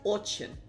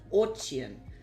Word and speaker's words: очень: The word is очень. Очень. In Russian, your E sound is pronounced ye. So очень, right?